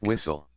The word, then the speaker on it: whistle: Notice that whistle. you have a silent h, a silent t, and you call it a silent e because uh we don't say that e at the end.